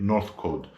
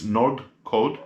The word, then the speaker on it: Nordcode: I've done many I keep on pronouncing the company, which is a Greek company, Nordcode. I keep on pronouncing it Northcode. Sometimes I say Nordcode, sometimes I say Northcode. So it's Nordcode.